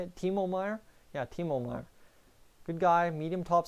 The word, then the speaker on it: Timo Meier: Yeah, Timo Meier.